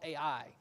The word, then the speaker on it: Ai: you know the name of this city is ai is how we pronounce it it's it's a nothing city um